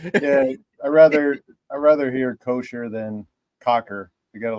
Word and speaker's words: Kocher: So it's like a football coach. It's Kocher. Oh, okay. All right. Cocher. Yeah. All right. I was close. Then. All right. Yeah, I rather hear Kocher than Cocker.